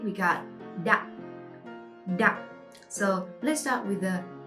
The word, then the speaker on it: Đặng: Next word, next last name, we got Đặng.